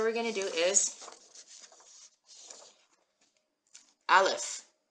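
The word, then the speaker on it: אלף: And if you picture the Aleph as like just all arms and legs, it helps you remember that it's a silent letter.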